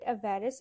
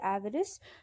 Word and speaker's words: avarice: avarice you call it a varus it's fine but the commonly known pronunciation is avarice so try using that